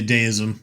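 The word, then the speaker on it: Deisim: Places, Hollow Point, and Dism or however you pronounce it. Yeah, Deism. D E I S I M. Got it. Got it. Got it. Uh, under 20 like a deity simulation.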